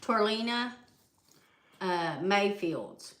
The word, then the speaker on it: Torilena Mayfield: So, but anyway, we've got an update today on how you say her name, baby? Torilena Mayfield.